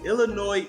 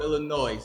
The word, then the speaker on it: Illinois: if you don't okay the s in Illinois is silent okay so don't come to Chicago and talk about you know your visiting Chicago Illinois like you're going to